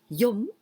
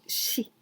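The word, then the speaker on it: 四: We can pronounce yon, yon, yon or yo, yo, and also shi.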